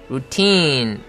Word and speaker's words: routine: 발음은 스트레스가 T에 있고 장모음이기 때문에 routine 해가지고 뒷부분을 강하고 길게 끌어줘야 됩니다.